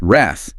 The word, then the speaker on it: wrath: And we need to emphasize that short a sound, right? Like the a in cat, not a longer a sound that you sometimes hear in error. Wrath. Correct. That short a is crucial.